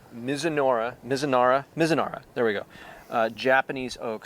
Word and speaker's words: Mizunara: And it's aged in, I can never pronounce it right, Mizunara.